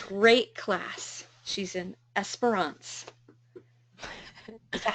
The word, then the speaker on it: Esperance: She's in Esperance. Is that how you say it? It's in Australia. Esperance.